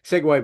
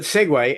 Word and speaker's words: segue: And most of us think of Segways as being like those two wheeled vehicles where you stand and and you know, weird. I've never tried riding one. They just look really scary to me. But segue, s Guue, pronounced segue, means to meld from one thing to another.